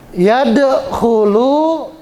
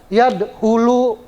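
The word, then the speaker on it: يدخل: Yad khulu dal sukun itu salah satu huruf qalqalah. Jadi bacanya ada e-nya ya. Yad khulu, khu itu kho. Seperti kita berdahak, kho ya. Nah, itu makhornya di situ, tenggorokan. Jadi nggak boleh yad hulu. Kalau yad hulu nanti ha salah.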